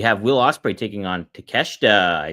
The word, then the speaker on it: Takeshita: We have Will Ospreay taking on Takeshita.